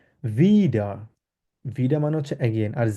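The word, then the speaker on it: wieder: আর এটাকে ডব্লিউ কে আমরা জার্মানে কিভাবে উচ্চারণ করি? ভে উচ্চারণ করি। ইংলিশে যেরকম ভি আছে, ভের মতো আমরা উচ্চারণ করি। তাহলে কিভাবে এটা উচ্চারণ কিভাবে হবে? ভিডা।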